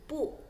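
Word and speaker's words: 不: Ya, huruf B bacanya P, po tadi kita lihat ya. Dan huruf U bacanya U, maka bu bacanya pu. Dalam pelafalan bahasa Indonesia ya, bacanya pu bukan bu ya.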